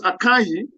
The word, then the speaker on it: Akanyi: So in R versus Akanyi, is spelled A-K-A-N-Y-I.